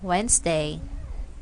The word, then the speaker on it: Wednesday: sound of D because the letter D is silent in the following words we have here Wednesday handsome and handkerchief so